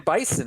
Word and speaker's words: Bison: Yeah, hell, his name was M. Bison originally. Yeah, it rhymes with Tyson.